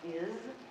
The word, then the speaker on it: is: Same with is, well, it's an S. It sounds like a Z, because S can do that.